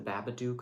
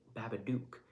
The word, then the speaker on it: Babadook: or babadook but um you got to be saying duck either way because it's gotta rhyme with the word look and book but um if you've